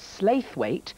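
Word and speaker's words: Slaithwaite: area that was in a little town called slave weight pronounced Slough it really mm-hmm see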